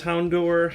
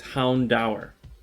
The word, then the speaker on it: Houndour: have hound hound hour i thought it was hound door hounder hound or i didn't think it was pronounced hound dower according to this book it's hound dower hmm houndour pretty pretty interesting um i've been